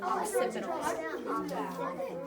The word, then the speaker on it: occipital: Occipital. Listen, occipital. Like an ox, like the animal.